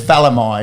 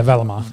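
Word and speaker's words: Valemei: But I'll tell you what, Timoko and Semi Valemi look both very good. It's Valamai, isn't it? Yeah, Valamai. The correct pronunciation.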